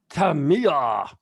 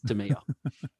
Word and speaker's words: Tamiya: the uh like the announcers were all gone tamiya and i'm like oh so that's how you pronounce it it is tamiya yeah yep tamiya so welcome to tummy our